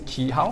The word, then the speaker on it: Chi Hao: My name is Chi Hao. Okay? Oh. Yes. So Chi Hao. yes, correct. So the Chi Hao. pronunciation is actually same as the Chinese one, number 7.